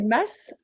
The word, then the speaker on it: mas: Ah oui, Des masses? les Eh fameuses. oui, les fameux masses. Ça se dit masse? Ça s'écrit M-A-S, mais ça se dit masse.